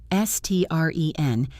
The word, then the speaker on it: strength: S-T-R-E-N-G-T-H, strength. Again, the NG flows into the TH smoothly.